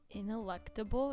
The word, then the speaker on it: ineluctable: Ineluctable? Is that how you say it? Yeah. Ineluctable. Ineluctable.